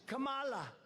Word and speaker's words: Kamala: to interrupt him no my name's kamala like comma i remember that like a comma right h1n1 that's right